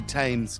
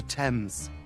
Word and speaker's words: Thames: see that doesn't rhyme you can't just say tames because it rhymes with painters it's the River Thames ha ha ironically although